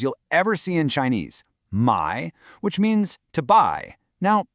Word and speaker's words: 買: This character is pronounced my and its meaning today is just to buy.